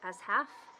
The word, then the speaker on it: Ashaf: Ashaf, as half, and they are witch hunting.